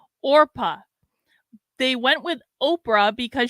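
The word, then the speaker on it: Orpah: Naruto says, fun fact I recently learned, Oprah is a mispronunciation of her real name, Orpa.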